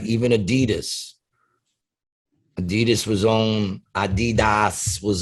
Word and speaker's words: adidas: shoes uh you know and i think the pronunciation is actually adidas it's how it's actually pronounced adidas yes it's actually it's the last name of